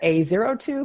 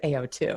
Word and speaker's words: AO2: Maybe some people go, "Is that A02?" But I'm pretty sure it's AO2. No, the O is key because the A and the O stand for access and orchestration.